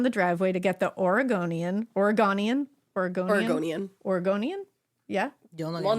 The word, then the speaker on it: Oregonian: Because Oregonian would mean we're saying it our way. Oregonian. Yeah, it's Oregonian. Yes, you're pronouncing it right, she said.